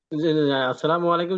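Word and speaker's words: السلام عليكم: একটু কনফিউশন আছি যে প্রথমে আলিফ পরে যে লাম আছে না লাম তো উচ্চারণ হয়তো না এখানে এখানে লামের উপরে তো কিছু নাই এজন্য উচ্চারণ হবে না ক্লিয়ার ওই যে লাম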